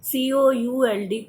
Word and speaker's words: could: COULD. Could. L is silent.